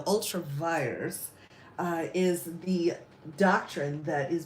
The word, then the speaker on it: ultra vires: I don't know, ultravirus. I'm going to say it wrong every time. It's like virus, so ultravirus is the doctrine that is being used.